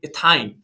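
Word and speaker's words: ethyne: इसी तरीके से अगर जो है ट्रिपल बॉन्ड होगा कार्बन कार्बन के बीच में, तब आप जो है उसको प्रोनाउंस करोगे इथाइन, प्रोपाइन, ब्यूटाइन।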